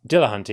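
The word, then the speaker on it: Dillahunty: yourself and uh Matt uh how do you pronounce his last name? Dillah Hunty.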